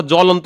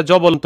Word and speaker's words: জ্বলন্ত: কোন উচ্চারণ হয় না যেমন দেখো জ্বলন্ত শব্দটার শুরুতে হচ্ছে আমরা জ এর নিচে ব ফলা পাইছি কিন্তু উচ্চারণ করি নাই আবার সাগত এর নিচে দেখো দন্তস এর নিচে ব আছে কিন্তু সেটার উচ্চারণ করি নাই এখানে সাগত সাবগত বলি নাই জ্বলন্তকে হচ্ছে আমরা জবন্ত বলি নাই তার মানে এখানে ব